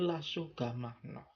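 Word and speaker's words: l'asciugamano: Tapi tulisannya SQ gamanu. Wah, tapi bacanya lah sohgah mahnoh.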